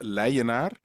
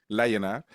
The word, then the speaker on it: Leijenaar: it well my name my last name is pronounced leonar Lon from the Dutch way lonar but you can call